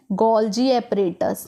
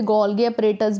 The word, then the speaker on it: गोल्जी: इस वाले स्ट्रक्चर को बेटा कहा जाता है गोल्जी एपरेटस। बहुत लोग इसे गोल्गी एपरेटस भी कहते हैं, पर इसका राइट प्रोनाउंसिएशन है गोल्जी एपरेटस या गोल्जी बॉडी, ठीक है।